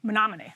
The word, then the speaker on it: Menominee: The first was the obvious one, that the referendum was doing better in the county seat of, how do you say it, Menominee? Menominee. Menominee, okay. It's a town of about 16,000 people than it was doing outside of it.